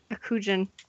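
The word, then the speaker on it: Akujin: going to take him a kujan that's how it's pronounced um is there Jack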